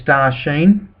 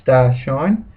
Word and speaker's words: Star Sheen: now going in with star sheen that's how i'll pronounce it until the owners tell me it's star shine well they should have put the s instead of the c shouldn't they star shine is anyway star sheen it is